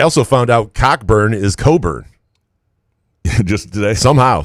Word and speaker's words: Cockburn: a h m it's no different than cockburn being Coburn David Jackson what have